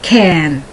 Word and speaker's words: can: So short A, can. The long A, cane. Cane. And the only difference is that one is spelled C-A-N and the other one is spelled C-A-N-E. And that E tells you that the A before, the vowel that comes before, is pronounced in its long form.